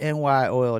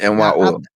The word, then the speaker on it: NY Oil: I mean, you would end up changing the name to NY Oil. That's how you pronounce it, right? Yes, NY Now, Oil.